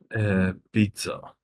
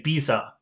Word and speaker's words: pizza: Pizza. Oh, okay. You're doing pretty well. He used to say Bisa. That's how he used to pronounce it.